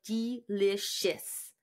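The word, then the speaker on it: Deelishis: that really weird because the name is spelled really funny d e right yeah it's d e l i s h i s so it's like delicious she was the winner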